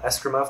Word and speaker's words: escrima: the double bow is probably cooler than uh escrima that's how it's pronounced uh but it's still cool obviously but